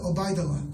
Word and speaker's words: Obaidullah: Not only did he say it correctly, he said it the Muslim way. He goes, Mr. Obaidullah, like that, right?